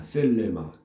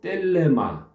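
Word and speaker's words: θέλημα: 말이니까 기억 해도 좋습니다 셀레마 또 어떤 사람들은 델레마 딜레마라고 발음하기도 합니다 또 델레마 하는 사람도 있고 셀레마 이렇게 하는 사람도 있는데 어느 바람으로 하든 다 아이 통용이 되는 그런 바람입니다 네세트 이루어지게 하소서 그런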